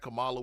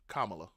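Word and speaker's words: Kamala: People saying that Camala would have been a better choice, which is also what gives me hope. Her run uh Kamla, excuse me.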